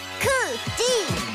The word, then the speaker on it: KCGI: 발음대로 읽으면 크지. KCGI 크지 KCGI 메리츠 자산운용의 새 이름 KCGI 자산운용.